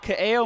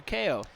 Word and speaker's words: Kaeo: on purpose I did your name is Kao milker yeah I've noticed that a lot of people just call you ko I respond to all